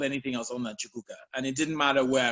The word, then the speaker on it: Chukuka: Like, my name is Chukuka. It's only 3 syllables. If you can say Jennifer, you can say Chukuka.